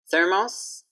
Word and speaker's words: Thermos: For TH, we need to have our tongue out. So don't be shocked when you see my tongue.